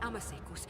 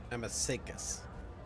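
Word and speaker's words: amasec: I never would have imagined I'd be standing at the bar, in the Amasekus, next to an honest-to-God Emperor Rogue Trader. Amasekas. Okay, that's how it's pronounced.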